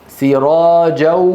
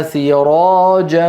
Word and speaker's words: سراجا: سراجا سراجا سراجا وهاجا لما نقول سراجا ننطق صوتين معا صوتين مع واو من الشفتين وغنه من الانف اذا قال القارئ سراجا اتى بواو ولم ياتي بالغنه وجعلنا سراجا سراجا سراجا وهاجا وهاجا